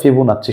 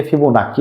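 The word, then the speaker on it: Fibonacci: এই যে সংখ্যাটি, এটা স্পেশাল একটা নাম আছে, এটাকে বলা হয় ফিবোনাচ্চি সংখ্যা। অনেকে ফিবোনাক্কি বলে, অনেকে ক উচ্চারণ করে, অনেকে চ উচ্চারণ করে।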